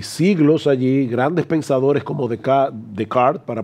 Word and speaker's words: Descartes: Hay siglos allí, grandes pensadores como Descartes, para pronunciarlo correctamente, o Hume, o Kant, y hablaremos